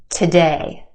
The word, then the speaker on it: today: talk about that okay try this one today today again we've got two syllables in this word our second syllable has the stressed or emphasized vowel sound a a we stretch that sound and put it in the spotlight the first syllable is where we have our schwa sound today today today it's